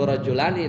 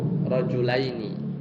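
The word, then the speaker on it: رجلين: Kita bilang ra'aitu bukan ra'aitu rajulani tapi ra'aitu rajulaini.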